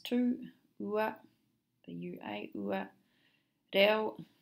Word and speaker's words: reo: Reo, as in dead eel. L, the EO is a ill sound, very much like a lazy English pronunciation of eel.